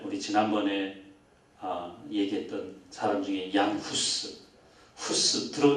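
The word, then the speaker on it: Hus: 지난번에 얘기했던 사람 중에 후스 후스 들어온 적 있죠네 우리 들어온 적 있습니다 후스가이 스라는 그런 어 발음이 사람들이 따라 가지고 이게 구스 구스 이렇게 들리는 거죠 그래서 스가 죽을 때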